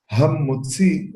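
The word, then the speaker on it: המוציא: El Rambam pone acento en que hay que decir con he adelante de motzi, y no como cuando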